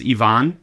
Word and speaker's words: Ivonne: God yeah that's my so my name is Ivonne right pronounced Ivon um uh because my